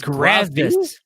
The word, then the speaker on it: Grazi: It's not a V. Yeah. It's Grazi. She don't even know how to say her name. It's a Z.